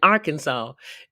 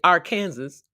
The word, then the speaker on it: Arkansas: that weird but yet you can't say AR Kansas you got to say Arkansas the other s on the end is silent woo it's always